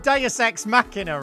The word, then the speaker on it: deus ex machina: confirm something with you it's pronounced deus ex machina right it's pronounced however you want